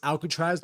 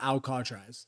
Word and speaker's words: Alcatraz: Hopefully, like, we don't get flagged on this, but it's pronounced Alcatraz, not Alcatraz.